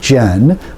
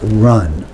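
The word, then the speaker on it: 仁: very simple concept run I know it looks like Jen but to this Texas Oklahoma Louisiana access accent it's actually pronounced something like run benevolence compassion sympathy if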